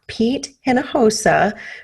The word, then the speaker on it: Pete Hinojosa: a very special guest with me i have pete hinojosa who focuses on developing did i say that